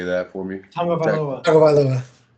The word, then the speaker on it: Tagovailoa: Tagovailoa. Tagovailoa. Do you guys practice that? Because it doesn't seem like that's how you say it.